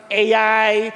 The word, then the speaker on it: Ai: No, some people they would pronounce it AI, some a yung iba naman a ito i basta sa atin I. Okay lang I.